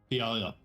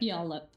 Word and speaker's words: Puyallup: Puyallup. Puyallup. I didn't pronounce it. Yeah, that. Puyallup.